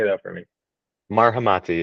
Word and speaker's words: Marhamati: Marhamati. It's pretty phonetic.